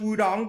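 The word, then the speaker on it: Wudang: And it's pronounced Wudong, but you can spell it with a T.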